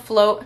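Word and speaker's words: Flōt: It was called Float, and it's spelled like F-L-O-T with like a line. I don't know what that line is called, but anyways, it's called Float.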